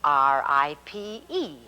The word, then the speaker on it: ripe: an e on the end and it says r-i-p-e ripe remember the rule little silent e makes